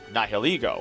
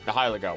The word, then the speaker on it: Nihilego: Our last Pokemon that is arguably one of the most powerful true parasites of all is Nihilego, or Nihilego, however the heck you want to pronounce it.